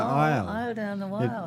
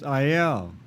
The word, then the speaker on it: Iyall: your name right um i was raised with the pronunciation aisle like walk down the aisle it's a native american